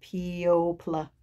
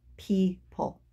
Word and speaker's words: people: Why doesn't it say pl at the end, right? P-O pl. Weird word, weird spelling, but the pronunciation is people. So now you know, when you get to your test, to say people and not p-o pl.